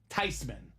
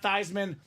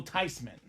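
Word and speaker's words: Theismann: okay with it it's actually supposed to be pronounced tyman so it was a lie the whole time it wasn't thean it's not Theisman the proper pronunciation is actually Joe tysman whatever you want to call him he's a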